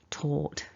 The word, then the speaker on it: taught: So what you're aiming for is not an ow, it's an or taught.